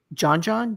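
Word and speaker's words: Djon Djon: Now, you have a dish here called John John. DJ O Dj, not John. John, is that right?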